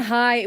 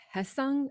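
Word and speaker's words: Hyeseong: everything in good faith he said we were mispronouncing heung Kim's name Hess Hess Hess Kim it wasn't High we thought it was high but it's not high I think it's Hess I think but certainly not Joe no which is what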